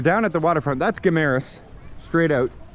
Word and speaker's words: Guimaras: That's Guimaras, straight out. Guimaras, you gotta say it right.